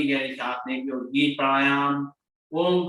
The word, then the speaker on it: ओम: ओम का उच्चारण 90% ओ बोलना है, 10% माँ बोलना है।